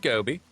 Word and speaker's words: GGobbie: I'm GGobbie. Pronounced like the fish, but spelled differently.